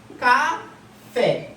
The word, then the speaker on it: café: Então a sílaba tônica é a última, certo?